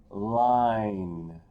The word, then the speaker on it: line: of my favorite words it has a silent e in it it makes the eye say its name line when we talk about